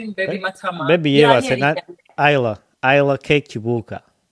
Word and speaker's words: Isla: Isla Cake Chibuka. Isla, like, it's like how you pronounce island. It's Isla. abantu basinga mu Uganda bamwita isla naye nga it's like it's island.